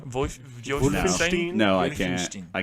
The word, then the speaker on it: Wolfenstein: W's, or do they pronounce it like a V?